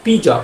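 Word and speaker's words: 鼻子: অঙ্গ-প্রত্যঙ্গের মধ্যে এই নাক পিজ পিজ মানে হচ্ছে নাক ওকে এখন আমরা শিখে দিব পি জ পি জ এই টোনটা কি এই টোনটা সেকেন্ড টোন পি জ পিজ বাংলা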